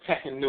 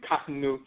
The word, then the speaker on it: Kahnu: Sometimes they mispronounce that Tehenu or Tahenu, but it's really Kahnu, the Khan people, and so forth.